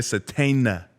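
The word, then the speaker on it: Sategna: And so how's it pronounced? Isaiah Satena. Satena. It's just a silent G.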